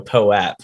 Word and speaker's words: POAP: I think that's the proper way to pronounce it, though, POAP. Because we've been through this before. We for whatever reason we keep reverting back to Pope.